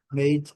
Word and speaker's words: made: Então, made in Brazil, fabricado ou feito no Brasil. Mad, feito. Rapidinho, man, short, o A bem curto. Made, o A bem longo. Made, letra E não pronunciada.